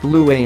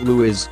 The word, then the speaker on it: Louis: great-uncle Perlman Patton of Burma in picking Lewis pronounced blue way not Lewis William and Kate appeared to be following long-established